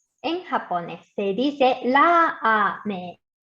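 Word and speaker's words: ラーメン: En japonés se dice ramen. Y el sonido de la A en ra se alarga por el guión.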